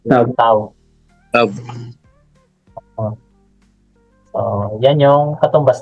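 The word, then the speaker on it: ת: sa kanya at tayo ang pronunciation sa kanya Ay tough t t parang F yung dulo tough tab pero t t t tav ang basa talaga pero ngayon modern language niya ito t o tav tav tav so yan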